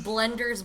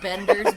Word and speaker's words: Bender: I kept saying Blender's Big Score, but it's Bender's Big Score.